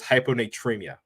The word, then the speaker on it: hyponatremia: But what I really wanted to talk about was hyponatremia. Hyponatremia. So I'm going to spell it out for you guys that want to Google it.